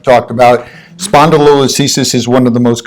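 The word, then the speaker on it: spondylolisthesis: and spelled yeah but spondi means body listhesis means slippage it's that simple uh and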